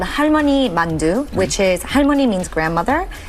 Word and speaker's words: 만두: So this is called halmoni mandu which is halmon means grandmother and mandu is dumpling.